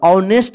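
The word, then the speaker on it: honest: ठीक है ना तो एच ओ एन ई एस टी इसको नेस्ट मत पढ़िए तो गलत हो जाएगा ऑनेस्ट पढ़ जाएगा ठीक है ना ऑनेस्ट का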